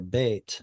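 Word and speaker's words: בית: And same thing here, bet. So the yod and the patach become a single vowel.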